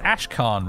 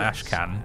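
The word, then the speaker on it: Ashkhan: zynab camp for now it's Ash Khan really it's not Ash can but for for like like half a decade I pronounced it ashcan in my head and I can't get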